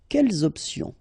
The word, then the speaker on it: quelles options: Option is starting with a vowel, you should make the liaison between the two. Quelles options?